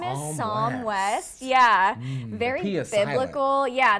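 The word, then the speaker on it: Psalm: the baby's name is some West yeah various local yeah the P is silent it's an it's some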